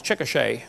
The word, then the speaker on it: Chickasha: 2005 textbook, and I pronounced it wrong as Chickasha, not Chickasha, Chickasha, Oklahoma.